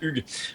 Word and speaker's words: Hugues: Bonjour Stéphanie, alors je suis Hugo, j'habite à New York et mon vrai nom c'est Hugues. J'ai adapté Hugues en Hugo parce qu'ici Hugues est difficile à prononcer, donc ça fait 14 ans que je suis aux États-Unis.